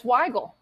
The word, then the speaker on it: Wygal: been asking everyone to make sure that I'm pronouncing your name right. It's close enough. It's Weigel. It's Wygal. Okay, because I didn't know if you Emphasis on like the it. first. Yeah, so Wygal.